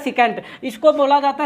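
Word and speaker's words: secant: ऐसे नाम बनता है सिकेंट। इसको बोला जाता है सिकेंट। क्या नाम बोला जाता है? सिकेंट।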